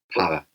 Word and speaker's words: paella: You don't say it like that, though. What? Paella. Paella. What? Paella. That's how you say it.